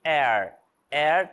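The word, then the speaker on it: heir: E air também é relacionado a herdeiro, tá? Herança. Herdeiro também não é pronunciado.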